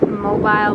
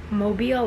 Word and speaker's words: Mobile: you pronounce it because we say mobile but it's like mobile like automobile so it's the way